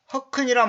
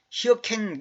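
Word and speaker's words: hearken: 이 허큰이란 말은 뭐냐면 히어켄 이렇게도 발음하지는 보통 허큰 그럽니다.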